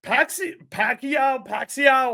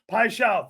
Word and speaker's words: Paixão: Pacquiao, however you say his name. I shall. Paixão, thank you.